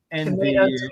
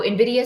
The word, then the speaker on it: Nvidia: You say Nvidia.